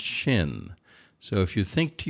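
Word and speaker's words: שׁ: is pronounced sin and this is pronounced Shin so if you think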